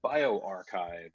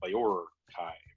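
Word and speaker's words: bioRxiv: translated enough and so when bio archive started there's their service they found that essentially market-tested better if they may capitalize ER because then otherwise they were bi or Kai right and so you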